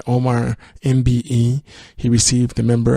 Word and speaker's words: Omar: is he's British now when you say his name you say oh my MBE he received a